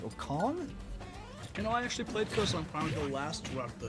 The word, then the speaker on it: KosongPrime: KosongPrime versus Mante. Yes, I wanted to say KosongPrime. No, there's no N. There's no second N.